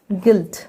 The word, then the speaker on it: guilt: सबसे पहले उन वर्ड्स को देखते हैं जहाँ पे यू आई को ई पढ़ा जाता है, जैसे गिल्ट, GUILT, गिल्ट, बिल्ड, इन दोनों वर्ड में यू आई को ई पढ़ा जाता है।